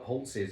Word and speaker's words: Holt's: You have to pronounce it, you have to call it Holtz's almost. Holtz's, you have to get it wrong, Holtz's, grammatically.